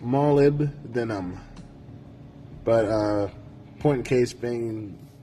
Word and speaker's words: molybdenum: It's pronounced molybdenum, but point in case being that it is found in many, many foods.